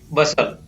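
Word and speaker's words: bustle: Next है TU, ब हो गया, यहाँ पर ब और अ जोड़ करके ब, फिर स और ल, टी को नहीं पढ़ेंगे, टी साइलेंट रहेगा, तो बसल।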